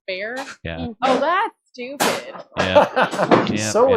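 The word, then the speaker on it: Bexar: It is pronounced bear. Oh, but really be e x a r is pronounced bear.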